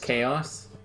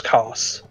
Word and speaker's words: Kos: Isn't it pronounced Chaos? No, it's Kos.